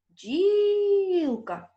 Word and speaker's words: бджілка: бджілка покличемо це слово бджілка на який звук падає наголос так на звук І а звук і стоїть у першому складі значить слово бджілка має